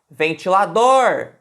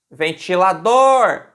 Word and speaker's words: ventilador: Quando a gente fala ventilador, ventilador, qual que é a sílaba mais forte? A última, dor.